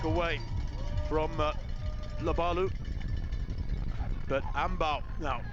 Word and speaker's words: Amebaw: But, Ambaw. Now, and apparently that's the correct way to pronounce it.